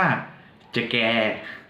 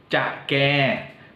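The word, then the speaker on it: ឆ្កែ: กับ แมว นะ ครับ หมา ใน ภาษา เขมร เรียก ว่า จะ แก จะ แคร์ นะ ครับ เรา ออก เสียง เดอะ แก จะ แก นะ ครับ แรง ๆ ก็ ลอง หา ไป ก่อน นะ ครับ ว่า คือ พูด ว่า จะ แก จะ แก่ ช้า ๆ ก่อน นะ ครับ แต่ เวลา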